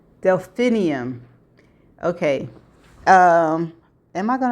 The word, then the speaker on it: Delphinium: The flower is spel pronounced like this. Delphinium. Delphinium.